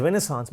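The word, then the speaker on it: renaissance: তোমরা যেমন French word জানো, রেনেসা বানানটা লেখো RENAISS, the spelling is রেনেসান্স বাট the pronunciation is রেনেসা, Nabajagaran.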